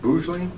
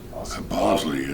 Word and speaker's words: Bosley: So, Bougley, is that how we say the name? Bosley. Bosley. Bosley. Okay. Just like it sounds. Just like a milkshake.